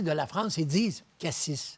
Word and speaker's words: Cassis: » Bon, alors il dit « Ici, on dit Cassis. Ah bon. Mais en général, les Québécois et certaines parties de la France, ils disent Cassis. Parce qu'ils prononcent le S, là.